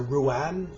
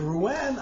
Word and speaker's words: Ruan: It's a solo recital essentially of Pippa music, but there's a Ruan, R-U-A-N, I think is how you pronounce it, which is another stringed instrument, another Chinese stringed instrument.